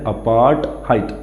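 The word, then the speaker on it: apartheid: The victory over अपार्थाइड, इसकी pronunciation होती है अपार्थाइड।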